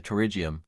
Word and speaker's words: Pterygium: What is a pterygium? A pterygium, pronounced Pterygium, is a benign, non-cancerous growth of